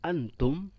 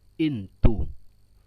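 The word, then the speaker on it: أنتم: banyak sekali yang dikurangi contoh Antum dalam bahasa fusha kalian dibacanya into Antum menjadi intro contoh lagi hukum menjadi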